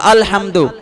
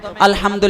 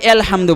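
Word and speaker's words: الحمد: পড়তে হবে আরবিতে পড়তে হবে বাংলা উচ্চারণে ইংরেজি উচ্চারণে পড়া যাবে না তো আলহামদু এটা ইংরেজিতে কি লেখা কখনো সম্ভব এতে আ হয় ও হয় তবে ইউ তে প্রথমে ইউ থাকলেও তো আ হয় তো প্রথমে আলহামদু লিখলে যারা কোরআন পড়তেই জানে না বলবে এলহামদু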